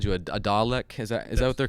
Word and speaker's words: Dalek: Like, I think someone called you a Dalek. Is that what they're called? Yeah, that's Doctor, right. Is that how you say it, Lauren? Okay, Dalek.